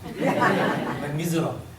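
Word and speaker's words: Les Misérables: 제가 발음을 너무 잘했죠. 레 미즈라블. 프랑스 발음이라서 이렇게 들립니다.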